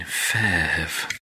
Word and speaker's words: PHEV: hello I'm and you mean fav I do mean fav but I thought that in the title I should at least say it properly yeah we we we should I have spoken to people at Mitsubishi uh in the last few days and I did call it a FV and then went oh